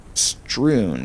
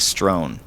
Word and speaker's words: strewn: It's actually pronounced strewn. Yeah, I think it's strewn. I think I was saying strown.